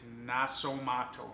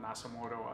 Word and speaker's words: Nasomatto: So to start off, so one thing I want to reiterate is that, or re-emphasizes that the pronunciation is Nasomatto, not Nasomatto as I was saying it.